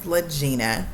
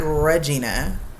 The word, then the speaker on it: LaGina: My name is LaGina, not Regina. LaGina. Like Regina, but with an L-A. Okay, not R-E. L-A, and then the rest of the spelling is so confusing that you'll say it wrong every time. So let's just go with LaGina pronunciation. Okay.